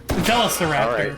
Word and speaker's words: Velociraptor: That is apparently the Australian pronunciation. Velociraptor. Velociraptor.